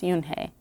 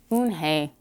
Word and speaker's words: Unhei: yes it's for hound it's pronounced yoon hey and it means grace mr kim added oon hey joy says slowly and